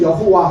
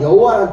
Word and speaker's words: 여호와: 우리는 여호와 하잖아요. 근데 여호와 정확하게 말해서 여호와는 예 독일식 발음입니다.